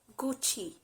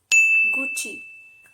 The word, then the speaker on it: Gucci: about this very well it's gucci gucci it's not gucci it's gucci the next brand is